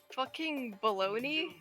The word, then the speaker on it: bologna: word baloney huh is that a word for real yeah baloney's the real thing it's a type of meat yeah and it's spelled bologna like how is